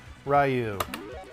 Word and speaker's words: Ryu: Let's do good old Ryu, and I pronounce it Ryu because I'm 40.